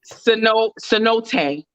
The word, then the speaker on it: cenote: Wait, I put the pronunciation. Santaye, whatever. Cenote.